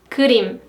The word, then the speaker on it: 그림: For example, 그림. 그림. It sounds like a cream in English, right?